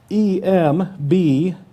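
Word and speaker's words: ἐμβλέπω: And if you are a note taker, I'm going to spell it. I just gave you enough time to grab your pen. E-M-B-L-E-P-O.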